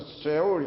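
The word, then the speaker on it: 스올: 오늘도 우는 장면이 나오는데 성경에서 스울이라면은 뭐 정확하게 히브리어 발음으로 쇠올 약간 뭐 그런 발음인데요.이 이 뜻은 무엇을 나타내냐면은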